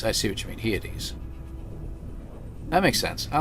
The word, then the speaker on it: Hyades: Kind of like you pronounce Pleiades. Hyades. I see what you mean. Hyades.